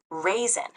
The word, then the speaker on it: raisin: n e i i i pronounce it the word is raisin pronounced raisin raisin is n Go ahe